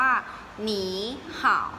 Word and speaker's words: 你好: คำ นี้ นะ คะ อ่าน ออก เสียง ว่า หนี ห่าว อุ้ย หมี ขาว หน้า